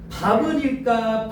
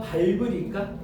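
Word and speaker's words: 밟을: 밥을일까? 발블일까? 발블이야, 발블. 그죠? 왜냐면 겹받침이니까 뒤에 비읍이 뒤로 넘어가는 거야.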